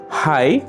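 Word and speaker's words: high: আবার আমরা যখন হাই এবং টাইট ওয়ার্ড দুটি উচ্চারণ করছি তখন জিএইচ লেটার দুটি অনুচ্চারিত থেকে যাচ্ছে।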